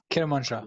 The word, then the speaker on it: Kermanshah: Begins with K, rhymes with Bermanshah. Kermanshah.